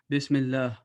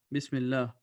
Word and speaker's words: bismillah: to which means that the name of Allah will be pronounced with a thin voice which will show a 24-ounce you will pronounce this bismillah bismillah but if before the